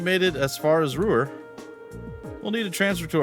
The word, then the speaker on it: Ruhr: I think that's how they say it, Ruhr. I always want to go with Rower, but they're like, Ruhr.